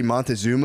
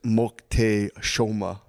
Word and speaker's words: Moctezuma: the way you say Montezuma is Moctezuma. So if you hear anyone say Montezuma, say actually it's pronounced. Yeah, pronounced like you're at a Mocte- Mexican restaurant.